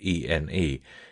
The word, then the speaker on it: ene: The word ene is pronounced like ne, with just sufficient attention to the final vowel to distinguish it from the word n.